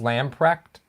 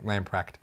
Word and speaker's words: Lamprecht: Yeah, it's pronounced Lamprecht. Oh, man, no H? Okay, thank you. Lamprecht. Got it.